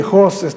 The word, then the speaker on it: Hus: Sí, Hus, H-U-S-S, ¿verdad? Se pronuncia Hus o Hus.